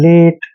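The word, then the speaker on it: late: रेट ठीक है ना एल ए टी ई एल को ले पढ़ते हैं और ए टी ई को एट पढ़ते हैं लेट जैसे जी को ग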